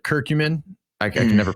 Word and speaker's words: curcumin: You said curcumin. I can never pronounce it. Am I pronouncing that right? Yeah, curcumin.